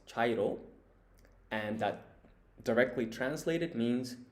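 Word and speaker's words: 茶色: And so this kanji here on the left, it means tea, which in Japanese is cha. And then the kanji on the right, its reading is iro. So as a whole, this is pronounced chairo, and that directly translated means tea color.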